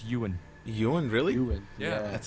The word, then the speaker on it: Ewan: Evan, no? No, it's Ewan. Ewan, really? Ewan, Yeah. That's it. He's Pronounced British, I Ewan.